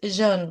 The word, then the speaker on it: Jeanne: It's Jeanne, like Jean, Jeanne, and is.